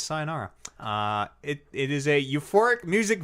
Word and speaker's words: Sayonara: gonna pronounce this wrong say your Nara oh sayonara for the switch yeah I just gave up on that one yeah now that I say it out loud oh it's sayonara it is a euphoric